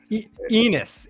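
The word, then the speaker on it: Ennis: give me one second Enis yeah it rhymes with penis Enis I keep saying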